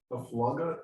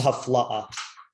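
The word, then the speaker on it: Hafla'ah: Haflaga, isn't it? This is Haflaa. Oh, okay, not Haflaga.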